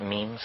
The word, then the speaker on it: meme: means you know what memes are memes are the smallest units of a concept and they're like genes the word is deliberately constructed to to rhyme with Gene and so when I